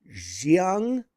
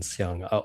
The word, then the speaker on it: Siang: Jiang, is that how you would pronounce it? Yeah, I think it's slightly different, but you can just sort of default to the same pronunciation, Siang.